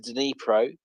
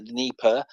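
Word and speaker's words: Dnipro: see the the river the denipro or the Nipper depending on how you want to pronounce it um is south of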